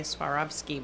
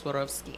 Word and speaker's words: Swarovski: got it pronounced correctly most people say Suaravski but I think Swarovski.